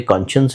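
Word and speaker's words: conscience: यह वर्ड है once कॉन्शियंस तो लिखते साइंस की तरह है लेकिन बोलते कॉन्शियंस है ये लेक्सिकल शिफ्ट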